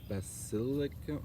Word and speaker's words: basilicum: Like basilicum? Like basilisk? Totally like basilisk.